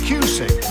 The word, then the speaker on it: Cusick: That's Cusick. Rhymes with music.